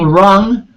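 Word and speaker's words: Rueng: Team Big Hashtag Ruang. Was it Ruang? Room. How do you pronounce it? Rung? Hashtag Rung, R-U-E-N-G.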